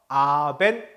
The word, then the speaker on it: Abend: 자, 참고로 끝에 나오는 D는 T라고 발음한다 그랬죠? 그래서 Abend 그쵸?